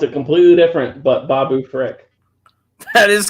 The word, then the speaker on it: Babu Frick: and Jim I spelled it completely different but Babu Frick that is correct phonetically spelling out the word Frick I like